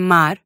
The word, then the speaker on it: mar: And at the ends of words or syllables. As in mar.